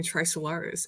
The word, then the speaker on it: Trisolaris: Yeah, I actually wanted to ask early on why you guys chose the name Trisolaris. And am I pronouncing it correctly? Yes, definitely pronouncing correctly.